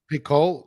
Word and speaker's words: Picault: Is that how you pronounce it? Picault? Picault, yeah.